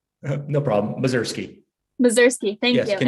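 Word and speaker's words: Mozyrsky: could you tell me how to pronounce your last name? Are you there? Mazursky. No problem. Mazursky.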